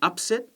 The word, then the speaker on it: upset: the verb second syllable your team wins and they weren't expected to that's an upset the noun stress on the first syllable but if you're upset about it because you're on the other team that's the verb and that's on the other side so you can see